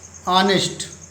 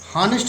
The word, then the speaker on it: honest: ऑनेस्ट, हॉनेस्ट इसको नहीं पढ़ेंगे, इसको ऑनेस्ट पढ़ेंगे।